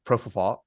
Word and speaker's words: propofol: former physician who administered the fatal dose of propofol, or how do you say it?